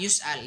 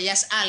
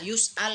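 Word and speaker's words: يُسْأَل: Contoh misalnya seseorang yus'al ditanya. Jangan baca yas'al ya. Yus'al ini bacanya seseorang ditanya.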